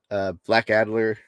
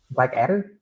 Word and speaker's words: Blackadder: They had Faulty Towers, Black Adler. Black Adler. I did not like Black Adler. Black Adder. I'm saying it wrong.